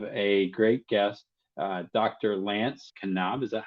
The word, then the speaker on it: Knaub: Lance Knaub. Is that how you say it? Knaub? Yes, we've Americanized it and kind of just say knob like a doorknob, but the Germans would say the K.